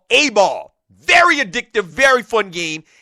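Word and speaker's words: Ayball: I want you to check out a new game from your app store called A-Ball. And it's pronounced and it's spelled A-Y-B-A-L-L.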